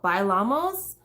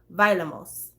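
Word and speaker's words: Bailamos: pronounce that word because he pronounces it totally different than what you would pronounce it if you were saying it in a sentence so if you were saying vailamos in a sentence you'd be like violemos that that'd be how you say it but in the song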